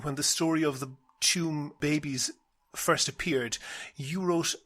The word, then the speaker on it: Tuam: One note about it, he sometimes mispronounces the word Tuam as Tuam.